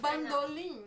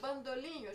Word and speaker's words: bandolim: And we say bandolim in Portuguese, bandolim. But she said bandolinho, she mispronounced it, and I wrote bandolinho.